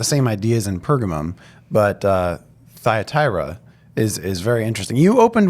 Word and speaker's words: Thyatira: challenge, the church at Thyatira, as we would say in a lot of English parlance. In Greek, it's actually Thyatira. Thyatira. That's the way that the Greek reads, but we're going to